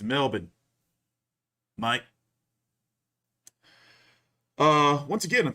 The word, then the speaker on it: Melbourne: on me all week the aussies about me pronouncing it correctly it's melbourne mike uh once again i'm teaching you controversy